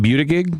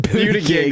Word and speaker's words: Buttigieg: I like how you called him Buttigieg. That's not even how you say it. I don't think. It's, yeah, Buttigieg.